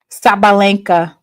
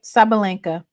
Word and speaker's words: Sabalenka: You had it right the first pronunciation. Okay, Sabalenka. Yeah, Coco.